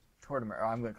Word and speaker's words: Tortimer: Is TortTimer not right? How do you say it? Tortimer.